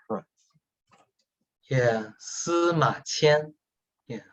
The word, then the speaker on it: Sima Qian: name one of the Chinese teachers will again pronounce for us. Yeah, Sima Qian. Yeah, Sima Qian.